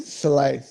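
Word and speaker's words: Szalay: at the moment Sebastian salai versus Chris houstonovsky not not no it's Sebastian Soleil I got to get it out there he's my teammate and I've got to get the pronunciation out for him so yeah it's it's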